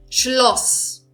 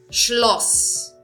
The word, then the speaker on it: Schloss: Schloss. Schloss. Aqui também o U eu pronunciei de uma forma curta. E por esse motivo tem dois S's.